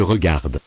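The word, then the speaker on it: regardent: Elle se regarde. Elle se regarde. Final. E-N-T. Are not pronounced.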